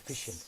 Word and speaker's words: sufficient: If the ending is ENT, Insufficient. insufficient, Insufficient. we stress the syllable before the suffix. Sufficient.